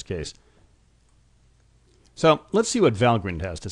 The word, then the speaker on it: Valgrind: So let's see what Valgrind has to say. And note the pronunciation by the way with a short I. It's not some contraction of value grinder.